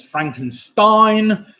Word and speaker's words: Frankenstein: is better known as Frankenstein Stein of course rhymes with nine so Frankenstein with a